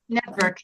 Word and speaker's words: NETVVRK: Network. Let me just show you Spell it for me.